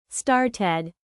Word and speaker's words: started: Started, ended, wanted. So cooked is 1 syllable, not cooked. But started is 2 syllables, started.